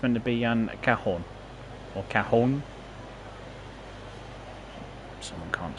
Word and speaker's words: Cajon: Apparently, I think it's meant to be Cajon or Cajon. Someone can't spell. There's a Sheerness on Sea service, which will be coming in the next couple of minutes. It's pronounced Cajon, is it?